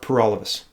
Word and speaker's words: Paralovos: my name is pyrolysis it rhymes with for all of us I want to represent